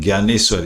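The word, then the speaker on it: Dnyaneshwar: डी एन वाई ए एन ई एस H double A आर इसको बोलते हैं ज्ञानेश्वर यानी डी इसके अंदर साइलेंट रहता है।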